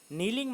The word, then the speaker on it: kneel: Kneeling at a place where the water flowed quietly, नीलिंग मतलब होता है, ये यहाँ पर के साइलेंट है, KNEEL, नील मतलब होता है घुटनों पर बैठ जाना।